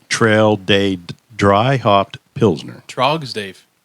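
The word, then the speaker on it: Tröegs: Trogs, Dave. Frogs. Trogs. Frogs. Trog. It's Trogs. Trog. I understand why I mispronounced that because, Oh, I forgot the little.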